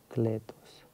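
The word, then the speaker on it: παράκλητος: Значит, так вот оно звучит по-гречески. Нет. Так, я уже забыл как. Альфа, давайте. Вот так вот альфа. Параклетос. Параклетос. Параклетос по-гречески может означать слово «утешитель» или «утешитель», правильно, наверное, ударение.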